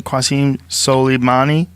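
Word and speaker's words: Qasem Soleimani: Qasim Soleimani?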